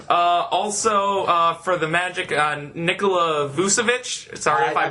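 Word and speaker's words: Vučević: Also, for the Magic, Nikola Vucevic. Sorry if I butchered your name.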